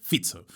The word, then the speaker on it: Fico: de una forma distinta por si os interesa la pronunciación correcta es Robert fizzo pero lo más flipante de esta historia es quién diríais que es el socio de coalición del señor fizzo estamos hablando de un